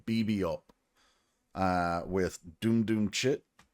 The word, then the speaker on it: VVUP: so much this is I thought it was Viva but I looked closer and it's actually pronounced BB up uh with doom doom chit uh yeah I